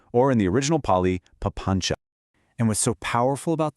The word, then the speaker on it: papañca: It's pronounced papañca.